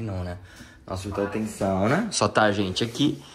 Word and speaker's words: sauna: How do you say sauna in Finnish? Sauna. E chegamos aqui pra fazer uma sauninha. Gente, tem coisa mais finlandesa que uma sauna? Claro que não, né? Nossa, então tem sauna.